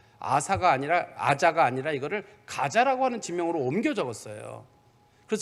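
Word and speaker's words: Gaza: 그런 것처럼 가자라고 하는 지명도 지금도 이거는 이 지역에서는 이걸 아자라고 부릅니다. 아자라고 부르는데 이게 이제 옮겨 적으면서 이제 영어로도 가자예요.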